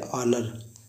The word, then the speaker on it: honour: जैसे लिखा होता है एग्जांपल HONOUR, इसे पढ़ते हैं ऑनर, इसका अर्थ है सम्मान।